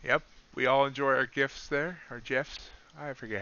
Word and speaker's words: GIF: we all enjoy our gifts there our gifts i forget how you found i always i always pronounce a gif i know it's jif but crude oil continuing